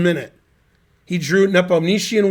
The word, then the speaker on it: Nepomniachtchi: I thought his name's pronounced Nepom, with the P being Nepom. I've never heard the Nietzsche part. Nepomniachtchi.